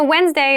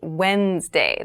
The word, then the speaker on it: Wednesday: So Wednesday is the middle day of the week, but keep in mind this is pronounced Wednesday. There's a D there, but we don't say Wednesday. We say Wednesday.